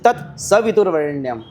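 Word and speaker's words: तत्सवितुर्वरेण्यम्: तो लगता ही है अधिकतर लोग तत्स वितुर वरण्यम बोलते हैं बल्कि वहां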